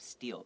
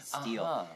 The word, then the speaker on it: steel: 但是大部分的是 so mostly made of steel. Now steel, this word, it also sounds like a word for 偷东西 steal. It's pronounced exactly the same, 一模一样的发音。但是偷东西那个是 steal.